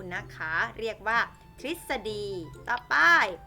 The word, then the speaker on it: ทฤษฎี: ไหม คะ ออก เป็น เสียง ริ ตอบ ๆ ทฤษฎี ทฤษฎี แปล ว่า อาบ ข้อ ความ ต่าง ๆ ที่ มัน เป็น แนว ทาง ความ รู้ นะ คะ เรียก ว่า ทฤษฎี ตอบ ๆ ตฤณ ตฤณ เหล่า นี้ คือ ตัว